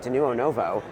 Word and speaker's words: Denuo Novo: First, thank you for saying our company name right, Denuo Novo. We've been out for about 4 years now, and people are still getting the pronunciation down.